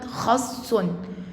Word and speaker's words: خص: بالنا يا سنه اولى ان حرف حرف السين عليه شده وما دام عليه شده يبقى ما بنفك الشده الشده بتتفك لحرفين الشده معناها ان الحرف اتنطق مرتين واتكتب مره واحده اتنطق مرتين الاولاني ساكن والثاني متحرك والساكن بيروح مع اللي قبله يعني لو حللنا كلمه خص يبقى خص الخاء مع السين الساكنه والسين الثانيه لوحدها تنوين بالضمه الكلمه اللي بعد كده